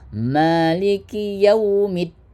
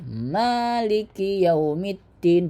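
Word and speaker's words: مالك يوم الدين: Maliki yaumiddin. Ya, ma hurufnya panjang bukan maliki yaumiddin tapi maiki yaumiddin. Berapa panjang mananya? Dua harakat atau satu ayunan.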